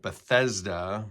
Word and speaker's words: Bethesda: Sometimes it's pronounced Bethesda, Bethsaida or Bethesda, which is surrounded by 5 covered colonnades.